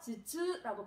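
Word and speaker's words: 頭痛: 그래서 머리두는 음독으로 발음할 때 즈 하고 발음을 합니다. 즈. 그래서 자, 두통이다 라고 발음을 하네요. 즈즈라고 발음합니다. 즈즈.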